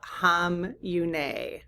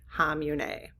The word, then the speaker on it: Khamenei: But I do understand his last name to be pronounced because I just did a pronunciation check uh on Google. Hamune. Hamune. Okay. Even though it starts with a K.